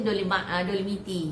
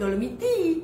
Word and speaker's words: Dolomiti: Rupanya kita baru dapat tahu pronunciation dolemiti untuk Italian. Italian jadi dia nak jadi dolem dia orang tu sebut dolamiti.